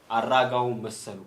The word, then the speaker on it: Aragaw: an ethiopian person and uh my name is aragon a r r a g a w m